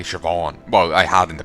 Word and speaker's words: Siobhan: names occasionally I forget I was to say Siobhan well I have in the past I remember now the more I've said I've forgotten to say Sivan and came up with on as a pronunciation guide because there's a